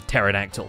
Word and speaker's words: pterodactyl: post office, and terraforming, where the P is silent like in pterodactyl.